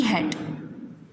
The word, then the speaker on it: hate: देखिए यहाँ पर दो स्पेलिंग्स हैं, HAT हैट और HATE हैट. ये हैट है और ये भी हैट है, लेकिन दोनों की डिफरेंट स्पेलिंग क्या है कि इसमें ई है, लेकिन जब भी ए और ई वॉवल साथ में किसी स्पेलिंग में होते हैं तो ई साइलेंट हो जाता है। इट मीन्स उसका साउंड क्रिएट नहीं होता।